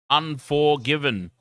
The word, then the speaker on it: UN4GVN: Unforgiven. Now that I think about it, UN4GVN is probably meant to be pronounced unforgiven.